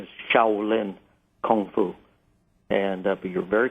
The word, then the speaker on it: Shaolin: The correct pronunciation is Shiaolin Kung Fu.